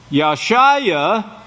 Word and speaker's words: Yeshua: Oh bill begot Yeshua Yeshua is as it should be pronounced yah Shia you get this your